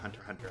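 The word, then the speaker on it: Hunter × Hunter: x Hunter character or Hunter Hunter I believe is actually how it's pronounced on the x is silent um uh but I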